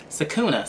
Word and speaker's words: Sakuna: Sakuna. See, I want to say Sakura.